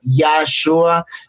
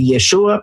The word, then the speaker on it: Yeshua: Sabemos, mucha gente aprendió Yahshua, y así es como Michael dio sus primeras enseñanzas, pero luego aprendió más hebreo y ahora dice Yeshua, pero está bien, sabemos,